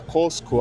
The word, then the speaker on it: Cusco: E Cusco, na língua original deles, na verdade a pronúncia correta era Cosco, algo assim.